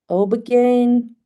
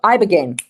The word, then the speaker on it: ibogaine: Obegain? No, ibogaine.